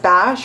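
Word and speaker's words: Banse: got some pieces from i believe it's b-a-n-s-e i don't know if it's pronounced bash or if it's pronounced b-a-n-s-h well they sent me some pieces including this dress and it's so cute i just threw it on i just learned it is pronounced bash yesterday i got my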